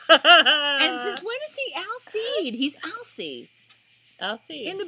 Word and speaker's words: Alcide: And since when is he Alcide? He's Alcide. Alcide. In the books, he was Alcide. They didn't pronounce the D.